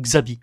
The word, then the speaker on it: Xabi: ou Xabi je sais je sais que l'autrice claire du Vivier prononce Xabi mais pour moi Chabi est un prénom basque X a b I et je ne connais pas d'autres origines à ce prénom mais peut-être qu'il y en a et donc pour moi ça se prononce Chabi donc je prononcerai Chabi et mais Chabi lui